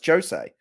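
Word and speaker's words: José: I found out I eventually said no, it's Jose, which is weird. Like you did the last thing you'd think would be pronounced as a J sound, but it's actually pronounced Jose Mourinho.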